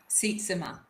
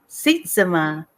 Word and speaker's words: Sietzema: It's Sietzema. Sietzema. Oh, Yeah, I so like that. Seat and then Zema, but it's not spelled that way.